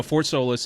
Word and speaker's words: Fort Solis: then uh they had fort solis or fort salas i don't pronounce it uh stars no fort solis and then it has